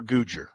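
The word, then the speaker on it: Googer: Is it Guger or Guger?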